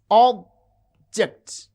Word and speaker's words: object: Consider a word like object. You can see object, object. The first syllable has prominence, it has extra force and full vowel quality. And ject, this is unstressed.